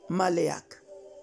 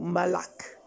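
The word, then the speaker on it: מלאך: Alors, l'ange ou le ange signifie en grec angelos et en hébreu, ange signifie maléak ou malak. Tout dépend de la prononciation.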